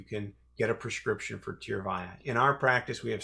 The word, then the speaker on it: Tyrvaya: How do you pronounce the name of it? It's a tough name, but it's actually pretty simple. Tyrvaya, Tyrvaya.